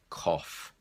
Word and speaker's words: cough: are coming to the party off the second pronunciation is off off and the word I gave you was cough if you have a bad throat then sometimes